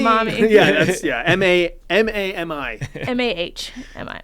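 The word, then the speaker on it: Mami: Yeah, Puff Mommy. Yeah, you have to pronounce it that way. I want to hear the H in Mommy.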